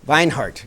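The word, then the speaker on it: Vinehout: them is named kathleen i hope i pronounce her name right will will hoyt will hike vine heart yes thank you uh vine anyway and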